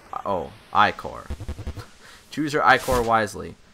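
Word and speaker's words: ichor: trouble Charles I can fill magical Igor that's pronounced Oh Ike or choose your eye for wisely so we got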